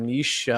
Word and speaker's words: niche: have that that that Niche or Niche however you you prefer to pronounce the word umiche it's it's a